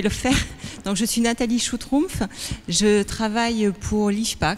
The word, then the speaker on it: Nathalie Schutrumpf: vois que vous avez eu très peur de prononcer mon nom je vais le faire donc je suis nathalie choux trompe je travaille pour liche pas qui est un